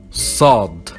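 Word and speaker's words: ص: We have Sad, and we pronounce it Sah, like an S, but it's stronger. Consider it the sister of Sin, but it's a lot stronger. Sin, Sad.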